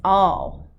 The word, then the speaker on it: awe: word is a short word a w e and the way you pronounce it is all okay and as you